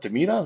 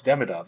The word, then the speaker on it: Demidov: Deidov? No, it's Demidov.